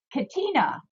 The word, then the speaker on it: Katina: And Chris Katina, there we go. Is how you pronounce her last name.